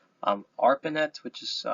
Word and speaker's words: ARPANET: So the internet began in the late 1960s with a project called um Arpanet which is spelled out a r p a ne t.